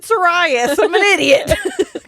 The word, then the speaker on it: Sirius: But and we already know she's pronounced Hermione Hermione. So I'm in Sirius Black. I said Sirius.